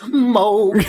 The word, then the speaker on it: Moog: But it has like really strange like sort of Moog synth uh soundtrack where Oh, I'm sorry, Mr. Music Major. It it it's pronounced Moog.